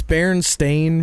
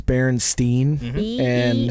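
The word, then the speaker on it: Berenstain: that I don't know it's baren stain versus Baron Stein R it is actually stain s t a i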